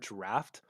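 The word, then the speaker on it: draught: exactly like the word draft. Despite the aug spelling, it does not rhyme with brought or drought. The aug sounds like a short a or a broad ah. So, it's a draft.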